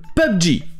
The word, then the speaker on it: PUBG: Je sais pas comment vous le prononcez, mais en anglais, ça se prononce comme ça, PUBG.